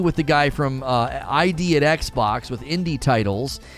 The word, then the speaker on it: id: lot of different things id is pronounced id like it oh i've always said